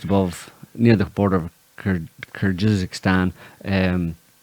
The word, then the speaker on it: Kyrgyzstan: There's the rest of the kind of stands below Kazakhstan, Uzbekistan, Kyrgyzstan, Tajikistan, Turkmenistan, and like you mentioned, Armenia.